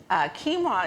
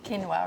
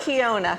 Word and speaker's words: quinoa: question is always like how do you cook quinoa right and how do you say it i said quinoa what did you say okay good yeah so this is not kiona no kyo yeah exactly so it's very simple